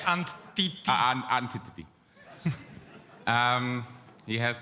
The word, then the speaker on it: Antti: So that's how you pronounce it, Antti. You should Okay. say Antiti.